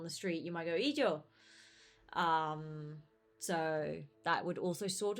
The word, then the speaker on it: illo: the situation, is with the word ijo, which is ILLO.